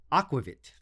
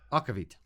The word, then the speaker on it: aquavit: we try op Anderson's aquavit no that's not how you say it okavit welcome to Celtic culture